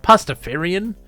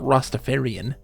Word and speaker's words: Pastafarian: Leaf yeah your pacifier pastafarian it's not Rastafarian yeah if you say it wrong okay planet